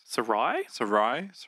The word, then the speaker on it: Sarai: But Abram and how do you pronounce Sarah's? Sarai. Abram and Sarai.